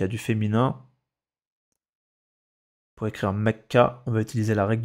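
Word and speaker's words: مكة: Faut juste comprendre qu'avant celle-là, on entend A. Mecca. Ce sera pas Mekki. Ni Mekku.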